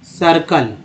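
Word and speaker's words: circle: सा यहाँ समझे कि जब सी के साथ आई होता है तब स उच्चारण होता है, ठीक है, कैसे उच्चारण होता है, तो देखिए सी आई आर सी एल ई कैसे पढ़ते हैं इसको, सर्कल, ठीक है, ऐसे ये पढ़ा गया, जो पढ़ा गया वो मैंने लिख दिया सर्कल, सी आई से स उच्चारण हो गया।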